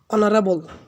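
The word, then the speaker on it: honourable: অনারাবল এইচ উচ্চারিত হয় নাই।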